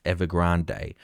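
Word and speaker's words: Evergrande: you and me so this story all began with evergrand or some people pronounce ever Grande when they face 300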